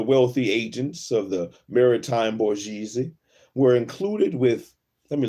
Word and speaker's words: bourgeoisie: merchants and the wealthy agents of the maritime bourgeoisie were included with, let me look up that word, how to pronounce that word.